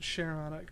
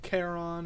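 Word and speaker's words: Charon: And yeah, I pronounce it Cheron. Calling it Kon or some whatever other way people say it sounds weird, you know. It's like Cheyenne, not Cayenne.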